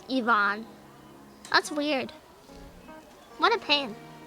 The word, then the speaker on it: Ivan: is interesting like we we normally say names like Ivan right in Russian it's pronounced Ivon that's weird what a